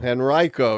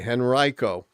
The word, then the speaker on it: Henrico: I've been saying Henrico and you told me not Oh, shoot. Oh. Henrico. Henrico, yes. I like Henrico better. It's an I, Henrico.